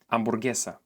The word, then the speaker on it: hamburguesa: This is an easy letter to learn in Spanish because in 99% of cases it doesn't make any sound at all. In this case, it's called silent H. Here are some examples. Hamburguesa, hermano, ahora, hacer, almohada.